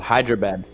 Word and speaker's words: HYDRAB8: And we formed a duo called Hyderabad. It's spelled HYDRAB8.